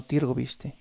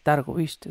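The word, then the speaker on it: Târgoviște: de hombres hacia targoviste no tiro viste targoviste es la forma correcta de pronunciarlo para invadir ballack ya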